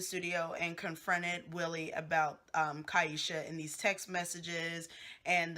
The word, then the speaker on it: Kyesha: I'm not a pronounce her name is not Keisha is kyesha she is on there